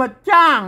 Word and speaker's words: จ้าง: อ จ้าง อ จ้าง อัน นี้ ก็ ยืม ตัว ช ช้าง มา เป็น ตัว จ้า เห กัน ๆ ๆ ๆ ๆ ม ไม่ ก่า ส อ่าน ว่า จ้าง นะ ครับ บ จ้าง บ จะ ช่าง นะ ครับ อ่าน ว่า